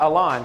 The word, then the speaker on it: Alon: There's Alan Ali, Coach. Yeah, Alon. Pronounced Alon, Alon sorry.